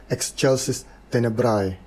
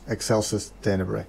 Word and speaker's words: Excelsis Tenebrae: language is actually pronounced Excelsis Tenebrae. But in New Latin, the A is silent, so it becomes Excelsis Tenebrae.